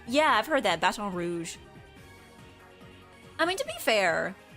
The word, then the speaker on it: Baton Rouge: Yeah, Louisiana natives say Basson Rouge. Yeah, I've heard that. Baton Rouge.